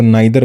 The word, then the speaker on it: neither: दूसरा प्रोनाउंसिएशन को लेके आपके दिमाग में हो सकता है कि इसको नाइदर बोलना है, नीदर बोलना है। देखो दोनों ही सही हैं। एक ब्रिटिश है, एक अमेरिकन है।